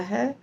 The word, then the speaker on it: हि: अब देखिए, एक शब्द है ही जो है वो छोटा है, छोटी ई की मात्रा है। इसका मतलब उसका उच्चारण होना चाहिए ही ऐसे, ही नहीं। परंतु जब हम राग में गाते हैं तो दीर्घ बोल देते हैं, क्योंकि राग के कारण वो दीर्घ लगता है।